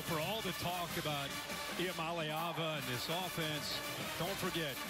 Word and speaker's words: Iamaleava: The correct way to pronounce my last name is Iamaleava. Iamaleava.